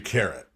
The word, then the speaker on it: Keret: two schools of thought one school of thought is uh this language was vocalized in a way similar to Old Canaanite and Biblical Hebrew which gives you carrot right the other school